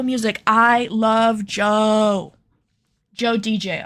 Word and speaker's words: DJO: Not Joe like J O E. That is his name, but he goes by DJO when he makes music. Like that's how you spell it. DJ O, but it's pronounced Joe.